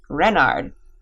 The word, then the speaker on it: Renard: Renard the the fourth Renard with the accent on the ren what's Ren asked button